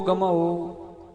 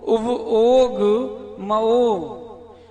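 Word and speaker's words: उवओगमओ: लोग क्या बोलते हैं? जीवो वो गमाओ, ये गलत है। द्रव्य संग्रह जिनने पढ़ी थी, आज उच्चारण सुधार लेना। जीवो उव ओग मओ, जीव उपयोग मई है।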